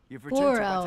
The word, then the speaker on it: Goro: Goro, that's how you say it.